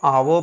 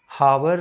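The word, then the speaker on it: hour: हैं ना कि ए का तो इसको आप आव पढ़ेंगे इसको हावर नहीं ऑनेस्ट को नेस्ट नहीं कुछ लोग घोस्ट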